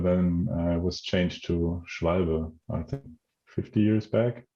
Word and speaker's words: Schwalbe: I don't have a German accent, so I'm going to butcher the name. It's fine. Schwalbe? Just try it. Schwalbe? Schwalbe, yeah.